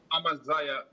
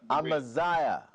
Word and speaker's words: Amaziyah: That's the pronunciation? Amaziyah. Amaziyah.